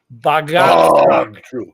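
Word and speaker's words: Bahgtru: Look at how do you pronounce that? Bagat. True.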